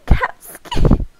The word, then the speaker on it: Capski: smiles when i say my name capski say it with an a sound um cat skate yes